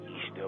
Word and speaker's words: Ishtar: Ishtar, which is pronounced Easter, was a day that